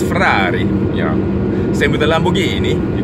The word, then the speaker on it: Ferrari: Of course, you know, Ferrari, you got to say it with an Italian accent. It's Ferrari, yeah.